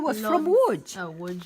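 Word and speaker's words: Łódź: here somewhere dad you would never notice I think it's like that LOD z why is it pronounced would that's what my her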